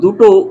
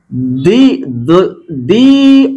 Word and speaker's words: the: এইখানে উচ্চারণটা দা, আর এইখানের উচ্চারণটা হচ্ছে কি দি, কারণ এখানে ভাওয়েল আছে। আর এইখানে যদি তোমরা দেখো, এখানে হাউসের আগে এইচটা হচ্ছে কনসোনেন্ট লেটার, তো সেই জন্য এর সঠিক প্রনাউন্সিয়েশনটা হচ্ছে কি দা ওনার, দি ওনার অফ দা house called me.